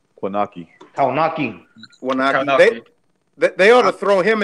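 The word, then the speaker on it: Kownacki: How do you pronounce that Polish kid's name? Konaki.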